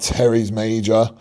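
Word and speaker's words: teres major: 2025 bodybuilding be like super science based, but anyways, this is kind of trying to work that upper lat like Terry's major. That's how you pronounce it.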